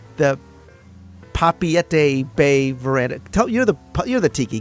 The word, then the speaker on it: Papeete: And I've been corrected to make sure that I pronounce the Papeete Bay Veranda.